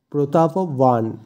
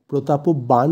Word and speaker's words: প্রতাপবান: এখানে যেহেতু অন্তস্থীয় ব আছে তাই সংস্কৃত অনুযায়ী অন্তস্থীয় বয়ের উচ্চারণ হয় ওয়া, তাই এক্ষেত্রে প্রতাপবান। প্রতাপবান কিন্তু হবে না, ওয়ান।